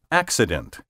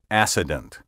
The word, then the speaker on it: accident: in the name Jackson thus we say accident not acident except not acept and